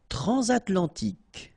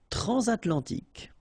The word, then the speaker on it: transatlantique: Transatlantique. Okay, so at the end, tic. Remember, Q-U-E, K. Okay. Transatlantique. Transatlantique.